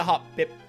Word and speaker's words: Hoppip: I'm trying to make a hop, hop it, hop, pip, hop. All right, that's how you gotta pronounce it, dude. That's the real way to pronounce Hoppip.